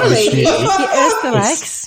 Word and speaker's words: Oesterreich: the Oesterreich, Ostriches.